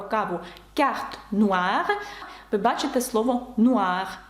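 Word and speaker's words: noir: разу казала про каву Нур ви бачите слово Нуар о і передає звук уа фгра буж паф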